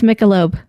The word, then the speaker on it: Michelob: a word pronunciation debate is it misha loeb is it michelob well i would say michelob i just would say no thank you it's michelob well if you want